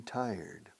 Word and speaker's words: tired: Os cuesta a los hispanohablantes decir tired. Se escribe tired, claro, pero se pronuncia tired. Truco, pero no es un buen truco, pero es un truco. Decir taller mecánico, un taller. Di taller acentuando la primera sílaba. Taller. Y luego trato de poner un sonido de T o D al final. Tired. Tired. Eso te migra hacia la pronunciación más o menos correcta.